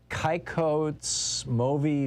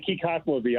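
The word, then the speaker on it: Kykotsmovi: Lance in Kikots Movi Village. Where is this? And I'm sure I'm saying that wrong, Lance. No, it's okay. Kikatmovi, I kind of say it wrong too myself.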